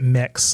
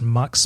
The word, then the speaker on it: Mx.: I pronounce it mix. I've heard it pronounced mux before, but MX period, I pronounce mix.